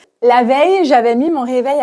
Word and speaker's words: veille: Et la prononciation, ce n'est pas vieille comme l'adjectif, mais veille, veille. La veille, ye comme dans famille, fauteuil.